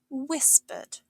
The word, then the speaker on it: whispered: Whispered. To whisper means to speak very quietly, often so only one person can hear. It's pronounced whispered. Watch out for that silent H and the soft S sound.